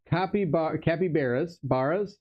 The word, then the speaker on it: capybara: For capybaras, how do you say it?